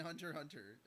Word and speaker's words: Hunter x Hunter: ah spy family and Hunter Hunter no you're right spy X family and Hunter x Hunter yeah exactly you're not supposed to pronounce the X exactly so spy X